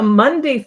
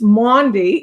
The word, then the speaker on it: Maundy: It's Maundy, and it's spelled entirely different, more like it sounds Maundy.